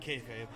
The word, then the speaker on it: kayfabe: And in order to keep it silent, on camera they say kayfabe, but they pronounce it kayfab.